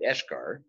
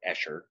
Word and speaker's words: eschar: Helps to remove from wounds that blackened dead tissue, that eschar, or escher, depends on where you trained and who you trained with, how you pronounce it.